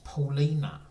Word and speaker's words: Paulina: no it's I'm wrong it's not Ally is it it's Paulina so here we go